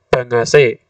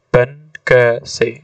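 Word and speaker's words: 参議: yoshio wakil ketua BPUPKI Bukan dibaca bangase yang betul adalah ban maka dari itu sebaiknya kita berikan tanda petik antara huruf N dan G supaya bagi orang awam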